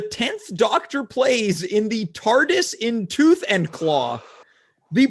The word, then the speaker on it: TARDIS: Perhaps this is pronounced tardy in the Tooth and Claw? No, it's the TARDIS.